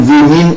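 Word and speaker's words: women: വിമിൻ എന്നടിച്ചോളൂ. വിമിൻ, സ്ത്രീകൾ എന്നർത്ഥമുള്ള വിമിൻ. ഉദാഹരണം അതാണ് എഴുതുന്നത്. ഇതിന് ഉച്ചാരണം വിമിൻ എന്നാണ്. വിമിൻ. മലയാളത്തിൽ വിമൻ നല്ല കേട്ടോ, അവിടെ തെറ്റി. വിമൻ നല്ല വിമിൻ.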